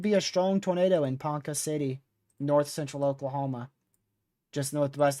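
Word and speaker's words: Ponca City: Panka City. So, it's pronounced more like a K, less of a C. Panka City.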